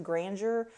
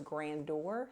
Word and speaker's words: Grandeur: granger i don't know i just looked up how to pronounce this and it says granger uh luckily i did look that up because i was about to pronounce it as grandeur so there you go